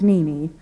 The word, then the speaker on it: Nene: name I offer the option of Nene one sweet syllable repeated twice it is simple and